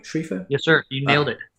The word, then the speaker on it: Schriefer: Schriefer?